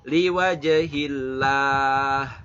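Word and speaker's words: لوجه الله: Hillah, Allahnya dibaca tafkhim apa tarkik? Tarkik ya. Karena apa? Karena sebelum lafaz Allah itu ada kasrah. Maka liwajhillah gitu ya. Innama nut'imukum liwajhillah. Jangan lupa belakangnya ada hak, kudu disebut ya. Haknya kadang seringkali kasus banyak hilang. Liwajhillah. Hilang tuh. Liwajhillah, ada haknya yang keluar.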